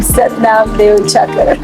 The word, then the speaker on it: Satnam: because my father called us Dev Charter I pronounced my name satnam that is foreign the world I feel